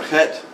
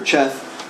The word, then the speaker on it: Cheth: There's a holy book of Thelema called Liber Het, often mispronounced as Liber Cheth, where there's a line that basically says, we'll bring you to the goal whether you like it or not.